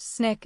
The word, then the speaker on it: SNCC: Out of that conference, the Student Nonviolent Coordinating Committee, SNCC, pronounced Snick, is born.